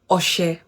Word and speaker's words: ọṣẹ: If it's written this way, it's pronounced as Oshe.